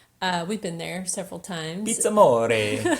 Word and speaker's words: PizzAmore: The first thing is that Pizza Moray. We've been there several times. Pizza More. Sorry, I pronounced it Amore. incorrectly. The R is roll.